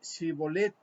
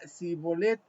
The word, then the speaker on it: Shibolet: Si él respondía no, entonces le decían, ahora pues di Shibolet. Y él decía Sibolet porque no podían pronunciarlo correctamente.